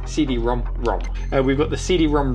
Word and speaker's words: CD-ROM²: turbo graphics console supporting cd rom rom and ld rom rom formats you actually pronounce this cd-rom rom and we've got the